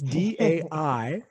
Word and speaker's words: Dai: So it's D-A-I. That's pronounced Dai. It's actually a Welsh name for He David.